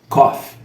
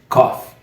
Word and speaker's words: cough: you in English and you pronounce cough cough cough cough repeat please cough I'm coughing a lot these days come and hear the difference between cough and coffee thank you very much